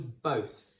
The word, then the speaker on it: both: We've got that b sound at the beginning. We've then got an alternative o in there, so o, okay? You might have thought it sounded like an o like that, so like slow or a bow, okay?